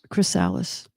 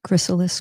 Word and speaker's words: chrysalis: It is the caterpillars crysales. Am I saying it right? Chrysalis. Crysales.